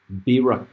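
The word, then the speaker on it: בְּרָכָה: writing, and in parentheses, this is, from what I understand, how it's pronounced in Hebrew. Berakah, Berakahh.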